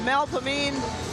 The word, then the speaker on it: Melpomene: Melpomene and Thalia. I know, you work on that, and you have to remind yourself to say it correctly. Yeah, in New Orleans, Melpomene, that's really Melpomene.